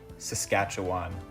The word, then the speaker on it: Saskatchewan: Another province whose pronunciation I've learned since filming this video, Saskatchewan.